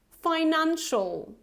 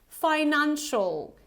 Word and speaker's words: financial: Financial. Financial. So it's not financial, okay? It's financial.